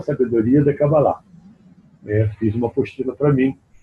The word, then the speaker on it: Kabbalah: Bom, de trás para frente aqui, o Pedro pergunta, qual é a pronúncia correta, Kabbalah ou simplesmente Kabbalah? A pronúncia correta é Kabbalah.